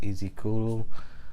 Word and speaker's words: Ezekiel: Like I said, I'm very into Japanese, so it just says my name in Japanese, Ezekiel, or in Japanese it would be pronounced Ezekuru.